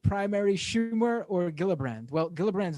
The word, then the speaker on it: Gillibrand: schumer or gillibrand well gillibrand's not up for re-election for quite some time now wasn't she just reelected recently yes soft g brand gillibrand well i wasn't in